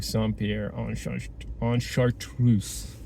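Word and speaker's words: Saint-Pierre-de-Chartreuse: So without further ado, we're gonna drive up to Saint-Pierre en Chartreuse. Let me try that again. Saint-Pierre en Chartreuse. I think that's closer to the correct pronunciation.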